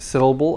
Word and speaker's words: syllable: the word syllable the the first syllable of syllable is stressed and it's longer than the others is very very very very short syllable it's much the first one the stressed syllable is much longer than the others syllable syllable the others sound kind of like very short almost like i'm swallowing them and that's normal english